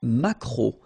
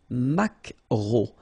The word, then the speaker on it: maquereau: T, la truite, le maquereau. So technically this K, just pronounce it K, mac, maquereau, maquereau. Alright? And then E-A-U, remember when you combine these three vowels, you get the sound O, maquereau.